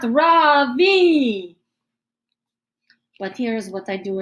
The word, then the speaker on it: Ravi: beside his desk r-a-v-i mrs bean has called him ravi but when he introduced himself earlier i'm pretty sure sure he said his name was ravi which with the accent on the second syllable as i reach down